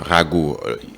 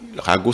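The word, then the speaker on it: ragot: des synonymes de rumeur Rago Rago s'écrit avec R a g o t on parle bien sûr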